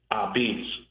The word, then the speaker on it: apizza: So what I did was in Wikipedia, the pronunciation of a p I zva is abs.